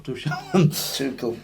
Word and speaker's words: Tuchel: How do you say it's Tuchel? Tuchel.